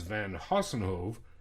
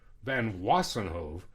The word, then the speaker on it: Van Wassenhove: The company said it also planned a return to work in adapted position, but it never happened as Van Vossenhove, well, I said it wrong, Van Wassenhove was regularly on sick leave.